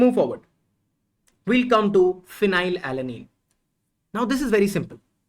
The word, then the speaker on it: phenylalanine: this is phenylalanine and you get the sound of F from here although it's phenylalanine but you pronounce it as phenyl so if so yes we don't write P here we write F here so yes based on